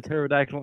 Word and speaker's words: pterodactyl: know why you can't hear a pterodactyl in the bathroom the P is silent yeah exactly yeah but